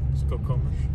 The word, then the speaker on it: Skokomish: Skokomish. Skokomish. Spell it.